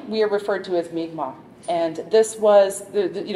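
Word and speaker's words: Mi'kmaq: My Relations so they think that that noguma is where the migma came from and then that work in first contact with the French when you if you speak it in with the English pronunciation that's where the mcmack would have come from because the K and the Q would have been pronounced differently in the different writing systems so those are the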